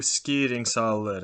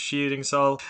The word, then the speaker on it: Skiringssal: pong for a second showing you skeeting solid that's how it would have been pronounced in old norse but in modern norwegian it's cheating saul as you can see